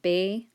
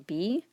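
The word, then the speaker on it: べ: structure where be careful it's pronounced bae rather than be this and also heiho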